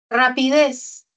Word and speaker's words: rapidez: Rapidez. Tiene la mayor fuerza de voz en la última sílaba.